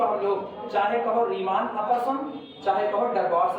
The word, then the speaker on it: Riemann: कई लोग इसको केवल और केवल रीमा पढ़ते हैं, केवल रीमा, ठीक है। तो उनके प्रोनाउंसिएशन का अपना तरीका है, अपने लोग स्पेलिंग याद है इसलिए हम लोग रीमान बोलते हैं।